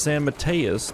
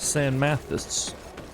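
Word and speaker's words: San Matheus: Inquisition go this way it's apparently pronounced San Mateus not Sam Mathis I'll keep that in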